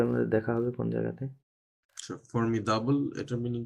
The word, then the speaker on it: formidable: দ সব সময় দ হবে তাহলে দ okay, কখনোই ড হবে না ফর্মিডাবল Formidable.